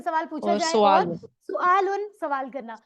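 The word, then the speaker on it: سؤال: और सुआलुन। सुआलुन, सवाल करना। उर्दू में प्रोनाउंसिएशन सवाल है, अरबी में सुआल, लेकिन असल में चीज वही है।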